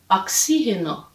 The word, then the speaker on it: oxígeno: a pronúncia bem diferente então oxigênio em português oxileno em espanhol oxigênio oxígeno a palavra polícia polícia a